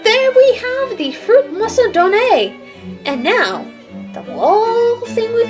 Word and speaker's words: Macedoine: Macedoine. I did pronounce it wrong. Woo! I tried. I mean, they also call it in the dub. They call it a fruit Macedonia, so it's either or.